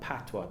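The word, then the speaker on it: Patois: a dialect you know we call it patwa p-a-t-i-o that's how we pronounce it in jamaica which is a breakaway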